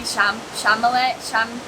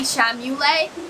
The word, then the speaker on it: Chalamet: I always pronounce his last name wrong, and it's like something that's like an inside joke between me and my friend group because I can never like pronounce his name right. Timothy Chalamet. And I always say Timothy Chamule, and everyone gets mad